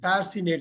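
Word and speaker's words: fascinate: மெய் மறக்க வைக்கிறது பாருங்க ஃபேஷினேட் இந்த சி சைலன்ட் ஃபேஷினேட்டிங் ஃபேஷினேட்டிங்னா ஃபேஷன் இல்ல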